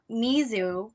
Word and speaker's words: mizu: come from which is leisure e's question so mizu spelled with the u so m-i-z-u is actually the